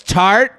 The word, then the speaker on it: Tarte: They carry brands such as Kopari, Glamgo, Glow Recipe, Tarte, and more. Oh, it's Tarte? Why don't they just spell it Tarte?